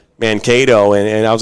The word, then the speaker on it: Mankato: were talking about pronouncing Mankato, and I was like, oh, it's like Cato Kalin, right? He's like, yeah, that's a good way of putting it.